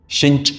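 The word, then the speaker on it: sinh: इस फंक्शन को प्रोनाउंस करते हैं जनरली साइन हाइपरबोलिक एक्स को प्रोनाउंस करते हैं शिंच एक्स से.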